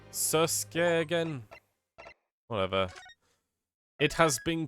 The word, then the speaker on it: Susato: And she just confirmed that that's how it's pronounced. Everyone else says Suseki. Ugh. Do I have to start freaking fixing myself into thinking it's Susuke again?